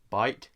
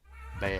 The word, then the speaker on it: Beit: So how is it really pronounced? Bite? Bait? Bay.